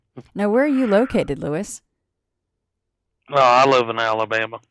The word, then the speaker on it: Louis: for their shout-outs, and I actually called you Louie, and in fact, the pronunciation of your name is Lewis, so I apologize for that.